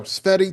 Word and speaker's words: Tsvety: Uh so yes, as you said, and you pronounce my name perfectly.